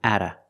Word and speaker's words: at a: I'm at a loss the t is pronounced like a fast D because it's between vowels I'm Atta Ada I'm at a loss